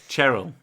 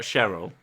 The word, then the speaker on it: Cheryl: It's with a CH, not an S, so it's fine. Yeah, it's Cheryl. Cheryl. Not Cheryl.